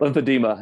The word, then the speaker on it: lymphedema: Cam's like, Lymphedema. Yeah. lymphedema. People always add the extra syllable to it. Like there's an I, like demia. I'm like, no, it's just Yeah. lymphedema.